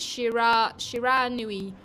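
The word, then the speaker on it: Shiranui: encased in my fruit by the way it's pronounced Shira Shira a Nui it's not what I said I thought I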